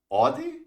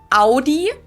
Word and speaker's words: Audi: first one is Audi most Americans that Audi seriously I call this Audi I know pronounce it like I just said it AI in German we say Audi okay Audi and there's